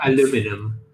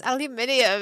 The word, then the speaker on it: aluminium: want to pronounce it or aluminum or is it aluminium it's aluminium is aluminum in in is it right well to be to be fair in greek it's aluminium so it's closer to you so i'm